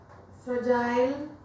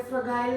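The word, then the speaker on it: fragile: पहला तो हो गया GeM, gentle, giraffe, giant, फ्रजाइल। देखिए इन सब में जी के बाद आई आ रहा है, हम उसको ज प्रोनाउंस कर रहे हैं, जायंट, जिराफ। गिराफ नहीं बोल रहे हैं, गाइंट नहीं बोल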